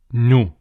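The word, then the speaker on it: نُ: It's like a small wow, and it has the U sound. So the way you would pronounce this is Nu.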